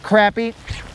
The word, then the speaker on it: crappie: the actual crappie or some pronounce it crappy and a small fish and whatever this is, it is a bass.